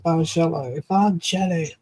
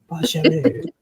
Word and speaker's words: Bargello: You would say it like Jello. Okay, Bargello. Bargello. Oh. I'll do it French because I'm fancy. Bargello.